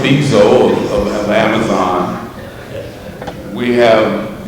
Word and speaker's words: Bezos: I always say Bozo, but Jeff Bezos of of Amazon.